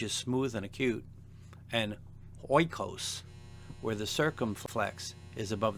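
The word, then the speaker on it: οἶκος: Oikos, house, a circumflex on the penult.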